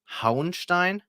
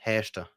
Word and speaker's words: Hauenstein: going to this town, which in German pronounced, if you don't know it, is Hauenstein, but for people around here, it's just Hechte.